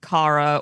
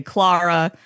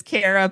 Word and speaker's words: Kara: If you get Brits, they're they're going Kara or they're starting to slide into wanting to say Clara. Kiwis go Kira. If I say my name is Kara, people will start spelling